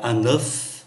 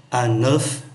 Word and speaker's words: œuf: Một trái trứng chúng ta phát âm là un œuf. Nhiều trái trứng chúng ta phát âm là des œufs, un œuf, des œufs.